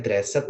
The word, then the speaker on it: dressed: Kemudian get dressed. Tulisannya dressed ya, tapi bacanya dressed.